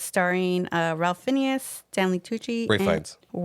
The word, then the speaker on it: Ralph Fiennes: Ray Fiennes. That's how it's pronounced.